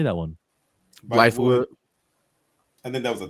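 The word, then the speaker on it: Bythewood: Blythewood.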